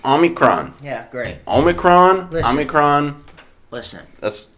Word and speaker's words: omicron: or as uh as joe biden called to omnicron everybody was mispronouncing it pretty hard for a week so